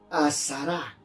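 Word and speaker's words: asara: Viene de una palabra hebrea, azará, que significa 10. Azará, A-S-A-R-A, acento en la A.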